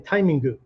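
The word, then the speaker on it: タイミング: But the Japanese, if you listen to the Japanese teacher, he's saying timingu, which is the Japanese way to pronounce the word timing.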